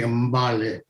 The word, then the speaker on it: Mbale: And similarly for Mabale, I think the English pronunciation is probably Mbale, M and B together.